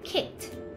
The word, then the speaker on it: kicked: ะ ไ ม่ อ่ า น ว่ า kicked น ะ เ ร า จ ะ อ่ า น เ ป็ น kicked มี t ต า ม ห ลั ง